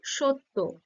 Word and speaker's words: সত্য: আমরা কিভাবে উচ্চারণ করি সত্য বলি কি বলি না কি বলি সত্য মানে অ টা ও হিসেবে ব্যবহার হচ্ছে তাই না আচ্ছা এই